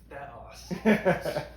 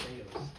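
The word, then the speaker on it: θεός: It's theos. It's not theos.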